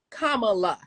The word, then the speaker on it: Kamala: slowly in case y'all don't know how to pronounce it kamla okay vice president Harris Kamala real easy uh has decided to pick her